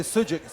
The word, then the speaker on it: sucuk: Wait, say sujuk. Spell it for me because I think I've seen.